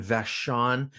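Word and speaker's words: Vachon: Killer Films, uh, was founded and owned by Christine Vashon. I believe I'm pronouncing that right.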